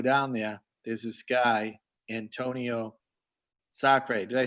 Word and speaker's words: Antonio Sacre: And every year that I go down there, there's this guy, Antonio Sacre.